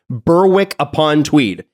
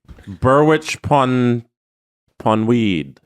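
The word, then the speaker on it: Berwick-upon-Tweed: The last one is I think it's you would pronounce it in North American English like Berwick upon Tweed, Mhm. but I feel like it might be a Berwich even though it's not a CH.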